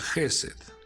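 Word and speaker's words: חֶסֶד: La bondad en hebreo se pronuncia Gesed, y Gesed tiene un valor numérico de 72.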